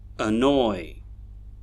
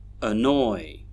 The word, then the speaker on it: annoy: And that's because although they have 2 syllables, one syllable is a stressed syllable and the other one is an unstressed syllable. The unstressed syllables actually have schwa sounds in them.